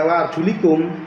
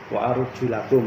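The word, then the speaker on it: وأرجلكم: Kalau dibaca wa arjulikum itu fatal akibatnya, karena itu berarti mengatofkan lafal arjul kepada lafal mashu. Artinya tangan itu bukan dibasuh tapi diusap. Itu makanya bacanya harus wa arjulakum.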